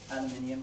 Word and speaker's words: aluminium: I'm sorry to say that, but I think the American pronunciation is not correct. Is it not great? Not correct. Oh. What do you prefer? Aluminium. Oh, why? Because that's how the word is spelled, actually. And I think it sounds like a Latin word, I think.